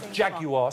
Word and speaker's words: Jaguar: If you're going to promote them, at least learn to say it properly. Jaguar, three syllables over here.